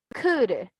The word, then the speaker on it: could: Acá nosotros decimos could. Ya no tenemos el sonido de la L, sino que ya solo pasaría she could by taking English classes. ¿Verdad? O sea, ya no hay que decir could, sino could. La correcta pronunciación de esta, could.